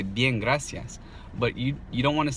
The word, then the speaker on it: gracias: God ah God ah now try to pronounce the whole word like that God ah yes get us yes yes got us yes if you start speeding it up once you've got it mastered slow good I see yes good ICS got us yes it actually sounds like the real word gracias gracias so work on that